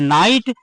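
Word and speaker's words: knight: की शुरुआत के हुई और के के तुरंत बाद एन आ गया इसलिए यहां पर के क्या हो गया साइलेंट हो गया लिखा है लेकिन पढ़ा नहीं जाएगा तो इसको हम पढ़ेंगे नाइट और नाइट माने होता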